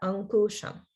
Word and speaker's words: Ankusham: It's a K sound, ku. It sounded a little bit like gu. So just watch out for exchanging ka for ga and things like that. Ankusham.